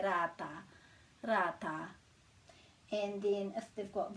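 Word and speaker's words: rātā: little bit trickier so it's not rata it's rata and the t you might have seen me talk about this before we've got the possibilities for the pronunciation of the letter t depend on what vowel is after it so when it's an e or as it in this case then it's a flatter sound like so this is and not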